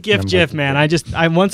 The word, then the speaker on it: GIF: says the correct pron is s it's like JF man I just I once I've locked in